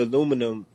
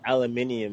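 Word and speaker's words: aluminium: English word for the aluminum no English say aluminum and uh Americans say that's a dialect difference yeah well it's more it's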